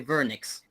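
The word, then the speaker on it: Wernicke: it's better to say vernix. صحيح؟ If you know in German we say the W, we call it the V.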